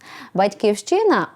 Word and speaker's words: батьківщина: усе залежить від контексту батьківщина пишемо з великої якщо вкладаємо уро чистий патріотичний зміст Чи маємо на увазі Країну У якій народилися громадянами якої є вимовляємо з наголосом на першому або на передостанньому складі як у Ліни Костенко